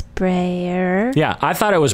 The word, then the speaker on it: Breuer: the thing is is I think it's Austrian because you say Brer Brer Brer because it's the same spelling EU in Freud is oi so from that part